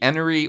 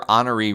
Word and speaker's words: Enoree: Now, south of here, you have the Enoree or Honoree River, depending on what persuasion you have. It's spelled Enoree, so I personally don't see how you can pronounce it Honoree, but I have heard